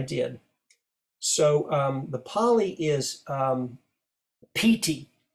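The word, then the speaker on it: pīti: So the Pali is piti, P-I-T-I, pronounced with a long I, P-T, like P-E-E-T-E-E.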